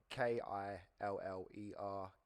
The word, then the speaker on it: Killerkorp: Corp spelt with a K rather than a C. Killerkorp.